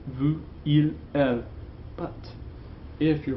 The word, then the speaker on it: vous: I told you when I taught you those pronouns not to pronounce the S, okay? It's nous, vous, il, elle.